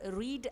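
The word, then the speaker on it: read: ध्यान रहे यहां पर रीड आपकी में वर्ब है एक्शन वर्ब है इसकी बेस फॉर्म को जब हम प्रोनाउंस करते हैं तो उसे रीड बोला जाता है लेकिन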